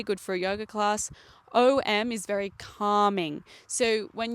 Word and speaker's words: Om: purpose so yeah m as om is simply A long slowly close the lips until it turns into m.